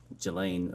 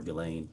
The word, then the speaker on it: Ghislaine: As best as we know, it's been publicly reported that in 2024, Ghislaine Maxwell, or Ghislaine, I think is how it's pronounced, arranged and wired $1 million to Publicist